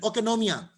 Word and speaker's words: oikonomia: ओकेनोमिया, okay, it's a difficult pronunciation, oikonomia.